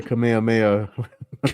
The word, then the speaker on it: Kamehameha: It's the Kamehameha.